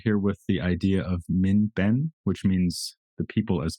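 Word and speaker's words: 民本: And maybe we could start here with the idea of min ben, which means the people as basis.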